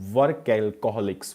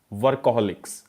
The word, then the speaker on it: workaholics: Last question of this day is, why do some people become work alcoholics? Workaholics. Right pronunciation, workaholics.